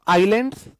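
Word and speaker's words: islands: Group of आइलैंड्स, इसमें S silent होता है।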